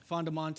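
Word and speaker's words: Fondomonte: where this uh this property is it's called fondamonte did i pronounce that right yeah fondamonte it's near the la paz county hamlet of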